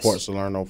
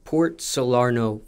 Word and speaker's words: Port Salerno: for you when it came to and just pronounce that City one more time what mine yes Port solaro Florida Port solaro Florida yeah was it a specific part of